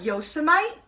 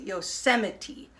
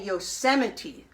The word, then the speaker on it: Yosemite: famous Park called Yosemite it looks like Yosa might when it's written down but the way we pronounce it we pronounce it Yosemite so everybody say Yosemite there's a lot of